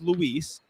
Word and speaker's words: Luis: Landon told me it is Luis, and then Lewis told me no, it's Lewis,